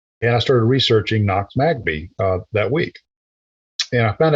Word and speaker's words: Magby: And I said, okay, so you mean like Knox, N-O-X, Magbee, Magbee, phonetically.